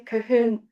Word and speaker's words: Cahun: To answer the question through my work with Claude, Cahun, Marcel, and more, and I pronounce their name Cahun because, again, I like consonants because of the languages I have.